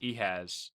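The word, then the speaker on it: Ehasz: I believe his last name is pronounced Ehaz.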